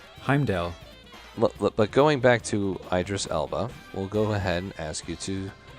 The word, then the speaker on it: Idris Elba: Idris Elba or Idris. How do you say that name? Idris Elba.